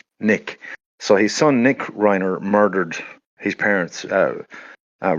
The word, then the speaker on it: Reiner: case here of um the murder of Rob Reiner. I presume I think I'm I'm pronouncing that right. R E I N E R.